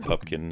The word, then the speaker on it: Pupkin: And yeah, Rupert Pupkin is his name. And yeah, Pupkin is his name. Rupert Pupkin. That's it. They pronounce it wrong throughout the film. It's a good running joke. Mr. Pumpkin is here.